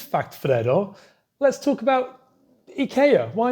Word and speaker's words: IKEA: Also, the name IKEA, or IKEA as we pronounce it in the UK, and funnily, some Swedes pronounce it IKEA because the rest of the world pronounce it IKEA. But in Swedish, you'd actually pronounce it IKEA. IKEA.